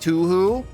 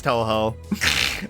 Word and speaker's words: Touhou: you say it like to who oh because I'm just goofing I know it's Touhou I say it like to who because I spent a